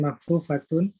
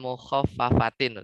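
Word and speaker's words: مخففة: Fa'an makhfufatun. Ini bacanya fa'an mukhaffafatin nanti.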